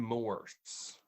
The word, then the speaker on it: Morse: no um it's uh benjamin morse benjamin moore he's the only one uh okay morse because it sounded like you added like an extra syllable in there benjamin moa